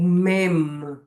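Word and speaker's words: מם: O mem. O mem é uma palavra bilabial. A gente vai pronunciar o m do hebraico. A gente fecha a boca ao pronunciar mem.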